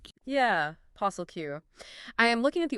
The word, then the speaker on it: POSSLQ: But okay, the most fascinating homegrown rule breaker from the source, hands down, has to be posslq. p o s s l q Pronounced posslq. Yeah, posslq.